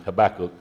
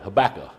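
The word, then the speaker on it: Habakkuk: an expert at pronouncing Habacook. I always called it Habaca like it ended in an H, you know. And when I got to looking at it and see that ended in a K.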